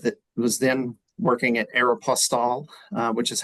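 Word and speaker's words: Aéropostale: to work with that was then working at Aeroplas, uh, which is how we're supposed to pronounce it.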